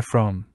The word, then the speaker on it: Frome: My name is Frome, rhymes with plume, and almost 40 years ago I was sent on a secret mission for the British Security Service.